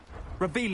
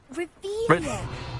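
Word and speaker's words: Revelio: Revelius. You're saying it wrong. Ugh, Revelius.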